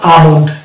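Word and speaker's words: almond: মন্ড দিয়ে হচ্ছে আমন্ড, এটা উচ্চারণ হবে আমন্ড। এল কে আমরা বাদ দিয়ে উচ্চারণ করবো।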